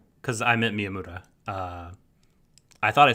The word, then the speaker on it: Miyamura: of it which does work did i say miyamoto because i meant miyamoura i thought i said miyamura but my fault